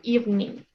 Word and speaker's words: evening: Or evening. It's like it doesn't exist. Evening.